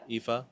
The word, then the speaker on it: Ephah: A multitude of camels shall cover you, the young camels of Midian and Ephah. Is that how you say it? Yeah. Ephah?